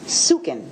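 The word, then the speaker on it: suchen: Upon checking further with investigator Willis, the spelling of the search term that he used, he has explained that the term is sukin.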